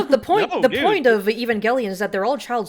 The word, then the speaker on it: Evangelion: you mentioned evang gallan is that how you pronounce it yeah Evangelion uh or some people say evangeli uh that's